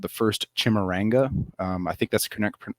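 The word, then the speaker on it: Chimurenga: And the second Matabele War is also called the First Chimaranga. I think that's the correct pronunciation, but the word Chimaranga means revolutionary struggle or uprising.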